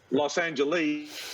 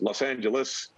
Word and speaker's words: Los Angeles: huge on pronunciation and he'd say it's not beijing it's beijing and it's not los angeles he's it's los angeles and there's a whole